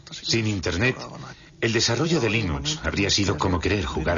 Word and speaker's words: Linux: Sin Internet, el desarrollo de Linux habría sido como querer jugar al ajedrez por correo.